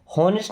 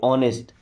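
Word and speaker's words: honest: देखिए इसको ऑनेस्ट नहीं पढ़ते। ऑनेस्ट यहां पे एच साइलेंट होता है। क्या पढ़ते हैं? ऑनेस्ट।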